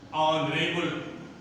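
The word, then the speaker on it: honourable: अब तीसरा देखिए, अब तीसरा है, कभी कभी कुछ शब्द ऐसे होते हैं जिसमें यच साइलेंट होता है, अर्थात यच का उच्चारण नहीं करते हैं। जैसे यहां पर देखिए, आवर, ऑनरेबल, ऑनेस्टी।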